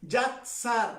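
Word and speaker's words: יָצַר: Yatzar, así se escribe, Yatzar, que significa moldear, significa formar.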